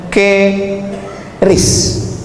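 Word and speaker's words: QRIS: mall ditulis ada namanya ke ris qis Kis. Cara bacanya gimana sebetulnya? Keris.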